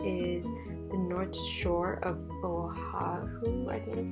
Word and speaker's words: Oahu: Some places that you can go visit is the North Shore of Oahu, I think that's how you say it. It's Oahu.